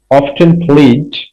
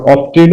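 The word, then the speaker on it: often: মাসুক নামা এবং মাসুক অফেন প্রায় খেলত এটার উচ্চারণ দুইভাবেই হয় অফেন বলতে পার তুমি আবার অফটেন বলতে পারো ঠিক আছে য়ার প্যারেন্টস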